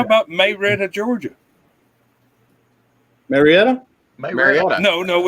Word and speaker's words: Marietta: Well, how about Marietta, Georgia? Marietta? Marietta. No, it's Marietta.